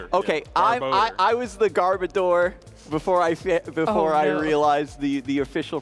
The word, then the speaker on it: Garbodor: I was the Garbodor before I realized the official pronunciation. Garbodor, as Boo would say. Well, odor because it smells, because it's...